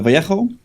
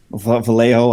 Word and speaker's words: Vallejo: Um mainly I use uh Games Workshop Citadel um and uh Vjo, Vallejo, how you want to pronounce it. I think everyone says it differently.